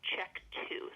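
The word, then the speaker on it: CHEK2: Uncertain significance and that's in a gene called check 2 so it's spelled c h e k and then the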